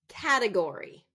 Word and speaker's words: category: how about this one category category it's going to be first syllable stress I hear it mispronounced